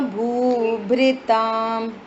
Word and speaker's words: भूभृताम: भेत्तारम कर्म भूभृताम। भेत्तारम कर्म भूभृताम। हाँ, और भूभ्र नहीं, भ्रे, वो जो री होता है ऐसा वाला होता है ना, लिरे, उसको थोड़ा सा ई उच्चारण में बोलते हैं।